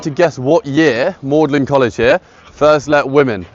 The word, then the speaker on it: Magdalen: It's spelt very odd. It's spelt as if you'd pronounce it Magdalene, as in Mary of Magdalene. But it's Thomas Audley, he insisted on the pronunciation Magdalen, and this is because you